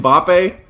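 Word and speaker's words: Mbappé: But Kylian Mbappe. I mean, that is, first of all, excellent pronunciation by John, the producer.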